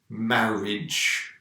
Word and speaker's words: marriage: Remember, the words with A-G-E are normally pronounced ij. So garage, marriage, for example.